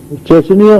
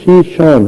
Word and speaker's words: شیشان: ریاست تھی اسلامی شیشان، جسے وہ چچنیا لکھتے پڑھتے ہیں انگریزی میں۔ چچنیا اس کا اصل تلفظ نہیں ہے، اصل تلفظ شیشان ہے۔ اسلامی ریاست تھی کسی